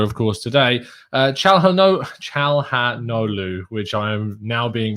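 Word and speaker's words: Çalhanoğlu: course today uh no chal ha no lu which i am now being reliably told um is pronounced without the the g the g is silent um but again criticize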